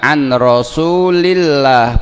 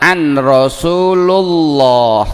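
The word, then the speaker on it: عن رسول الله: Alaihi Wasallam jadi bacanya anrosulillah bukan an Rasul Kenapa karena an itu termasuk huruf jer ya sehingga yang jatuh setelah an harus di harokati kasrah Shallallahu Alaihi Wasallam bersabda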